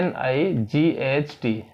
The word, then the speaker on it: night: जैसे हम NIGHT तो NIGHT न आई ट GH का उच्चारण नहीं करते हैं।